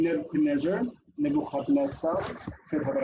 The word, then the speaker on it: Nebuchadnezzar: So the book, our lovely textbook, divides the name Nebuchadnezzar, should have an accent on there, I'm sorry, in the following way. Nebuchadnezzar. Notice that the dagesh in the tzadi means that the letter is doubled.